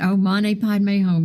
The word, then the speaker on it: Om Mani Padme Hum: Oh, Mane Padme Hum. You pronounced it beautifully, Steve.